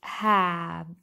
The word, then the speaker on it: half: yes this fraction is have have okay this fraction is have the l is silent the l is silent